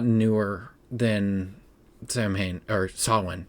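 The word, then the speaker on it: Samhain: See, you want to say Sam Hayne because that's how it's spelled. And again, this might be spelled wrong. I didn't double check before I wrote it down, but I do know that it is spelled way different than Sawin.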